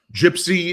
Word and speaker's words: JYPSI: Um gypsy, it's there's a there's a reference here uh because it is spelled a little differently than we we think if we hear gypsy, but it's uh jy um psi.